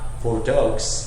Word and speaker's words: Bordeaux: this year I actually have bordo did I pronounce that correctly Bordeaux bordo bordo there we go I have BAU actually